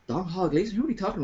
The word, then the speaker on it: Domhnall: Jesus, maybe it's not Donald. Have I been saying it wrong all these years? Jesus, is there egg on my face? So I looked it up. Is it actually Domhnall? So 30 seconds is all it took. Donald.